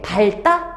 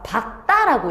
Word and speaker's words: 밝다: 밝다? 밝다가 아니라 박다라고 얘기를 해줘야 돼요.